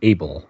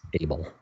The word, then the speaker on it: Able: all that stuff Whitney AEL Whitney AEL you said AEL it's it's spelled a e so I assume it's able well anyway to make